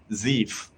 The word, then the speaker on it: Zeef: heard about it before re like reef it is uh zeef so you can pronounce in the same way like reef somebody has suggested actually